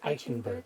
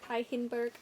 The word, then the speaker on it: Eichenberg: I don't know how you say it. Eichenberg. Eichenberg. Gotta get some phlegm in there.